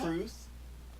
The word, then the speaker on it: crwth: It is spelled CRWTH. That's terrible. Why would you do that? Because in Welsh there's a vowel, or W works as a vowel.